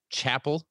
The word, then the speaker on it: Chappell: about his farming practices his last name is pronounced chapel but it's spelled with two p's and two l's like c h a